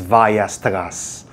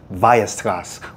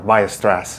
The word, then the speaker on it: Weierstrass: So, it's a German name. I had to learn how to say it correctly. It is Weierstrass. Weierstrass, or you can just say the R, Weierstrass, okay? That's how you say it, and it's a T substitution.